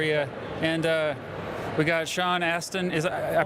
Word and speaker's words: Astin: And we got Sean Astin. I pronounced your name right?